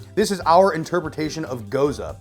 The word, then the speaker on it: Gose: This is our interpretation of Gose, pronounced G-O-E-S-U-H, Gose.